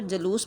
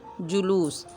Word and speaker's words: جلوس: ہیں حسن، عذر، بغض۔ لفظ ہے جلوس، جس کو عام طور پر جلوس بولا جاتا ہے۔ اس کا صحیح تلفظ ہے جیم کے اوپر پیش، لام کے اوپر پیش، واو اور سین ساکن، جلوس۔ اور لفظ ہیں اس